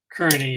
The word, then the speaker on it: Kearney: Kearney, is that the correct pronunciation, by the way? Kearney, not Kearney? It's Kearney, Your Honor.